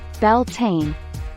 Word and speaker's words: Beltane: from the lovely Merriam-Webster site May 1st Beltane pronounced Beltane meaning the Celtic May Day Festival belting